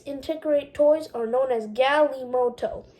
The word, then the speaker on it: galimoto: toys are known as galimoto it's pronounced g-a-l-e-m-o-t-o-e the word may have